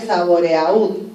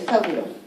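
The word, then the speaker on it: Sabouraud: micología el lagar saburo el lagar saburo que se escribe saborea Sí pero es saburo muy bien en este es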